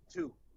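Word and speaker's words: Tew: Okay, so alright, so my legal last name is Two, T-E-W. It's Okay. pronounced like the number 2, right?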